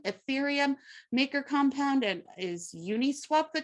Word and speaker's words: Uniswap: us in Bitcoin, Ethereum, Maker Compound, and is Uniswap the correct way to pronounce that?